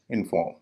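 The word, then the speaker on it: inform: और इसका उच्चारण है इनफॉर्म।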